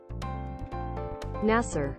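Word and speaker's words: Naser: Okay, that's former president of Egypt, and then with one S, it's... Nasser. Nasser. Like an Australian saying NASA.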